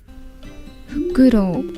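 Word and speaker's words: ふくろう: An owl is called in Japanese a fukuru. Say it quickly. You got to say it quickly. Fukuru. Let's hear how she pronounces it. I'm not swearing. She'll pronounce fakuro. Here we go. This is how they This is her pronouncing it. Here we go. Fukuro. Fakuro. Yep.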